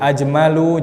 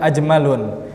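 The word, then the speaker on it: أجمل: Ajmalu jangan ajmalun. Asgharu tidak kita baca asgharun. Ahsanu tidak kita baca ahsanun. Jadi dibaca dengan tanpa tanwin karena dia isim ghairu munsharif.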